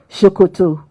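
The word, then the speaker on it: ṣòkòtò: in Northwest of Nigeria written the same way but pronounce s-o-k-o-t-o shokoto means trouser in Yoruba language so they say what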